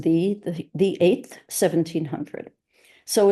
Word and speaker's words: ye: is died December uh it says ye but it's pronounced the the 8th 1700 so